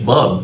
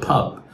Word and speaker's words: pub: Also for pronunciation, because of the pa sound, so many Egyptian students might say bub instead of pub, right?